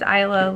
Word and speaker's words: Isla: start off my name's aiyla the S is silent in my name spelled is la I'm 25 years old